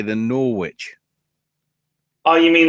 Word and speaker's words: Norwich: an American person saying norch I'd say is pretty easier to say than Norwich Oh you mean like just say that it rhymes with porridge yeah that's an easy